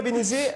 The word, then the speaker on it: Bénézet: Nicolas Béné... une compétence encore. Nicolas, on a bien noté la différence et la syllabe qui manquait peut-être dans votre inconscient. Nicolas Bénézet, vous concernant, est-ce que vous avez...